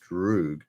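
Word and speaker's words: друг: An image of a villainous deathclaw from what game became a meme known as Apyr, actually pronounced Droog, Russian for friend.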